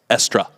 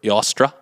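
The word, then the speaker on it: Eostre: Anyway, the Anglo-Saxons worshipped the goddess Estra. Or Yostra. Yostra? Yostra. Okay. Or Sounds like Esther. Esther. Okay. Yeah, there's a bunch of different pronunciations of it.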